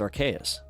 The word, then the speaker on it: Arceus: It's Arceus? With a K? Oh. So it's Arceus.